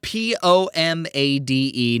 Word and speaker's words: pomade: It's spelled Pomade, not Palmade. P-O-M? Palm.